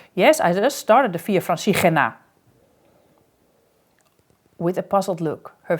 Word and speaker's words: Via Francigena: Francigena, you must know I pronounce it Via Francigena, with a harsh ch from our throat as we pronounce this letter in the Netherlands, and the emphasis on the G part, Via Francigena.